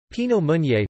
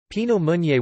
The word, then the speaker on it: Pinot Meunier: Pinot Meunier, pronounced pi.no-mo.nier, also known as Meunier